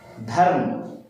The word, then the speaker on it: धर्म: तो यहां देखिए म के ऊपर रेफ की मात्रा लगी, म के पहले इस र का उच्चारण हो जाएगा धर्म, तो आधा र आधा अर्ध व्यंजन र के रूप में।